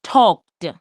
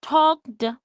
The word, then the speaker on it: talked: So it sounds like the sound of ed has a T sound in it.